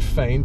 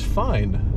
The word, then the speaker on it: FYN: it since then so now they know it's pronounced f-a-i-n yes correct now let's